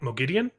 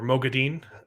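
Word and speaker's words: Moghedien: off to tanchiko and fight mogidian or mogadine it's pronounced both ways in the audiobooks i know i was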